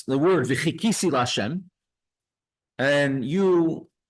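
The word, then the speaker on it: וחכיתי: you mispronounce the word v'chikisi lashem, and you pronounce the word v'hikisi lashem, sort of like many you can say Tamanim or Moroccans do. They say a het instead of a ches, and it sounds like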